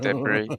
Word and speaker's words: debris: I might be talking absolute twaddle there when I said it French, but it does sound like it when you have a silent S.